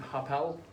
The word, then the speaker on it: Harpel: financial planning group called hapal yeah i want to make sure i'm pronouncing that right harpel financial group two kids names harper and elijah combined together formed harpel when i was thinking of